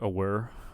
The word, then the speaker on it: aware: I'm kind of hearing aware we are aware um instead of aware air air air on that second syllable aware is used to